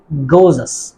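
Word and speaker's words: gorgeous: beautiful very beautiful এর পরিবর্তে আমরা বলতে পারি গোজাস আমরা সাধারণত এই শব্দটাকে কি বলি আমরা বলি গডজিয়াস গডজিয়াস মানে আমাদের উচ্চারণ কিন্তু এটা আসলে গোজাস গোজাস গোজাস ভেরি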